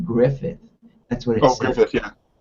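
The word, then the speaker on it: Gruffudd: last name um and apparently you pronounce his last name griffith that's what it is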